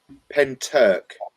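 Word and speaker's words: Pentyrch: at videos and um pen Turk is the pronunciation in Wales never heard of it mate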